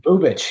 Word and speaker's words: Bubic: But a guy I'm really surprised with is Chris Bubic. Is that how you pronounce his name? Bubich, yeah, Chris Bubich.